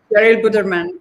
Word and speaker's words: Cheryl Putterman: Yes, Cheryl Buderman is the correct way to say Yes, thank you.